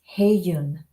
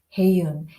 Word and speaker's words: Hye Yun: It's pronounced Hae-yoon. Hae-yoon.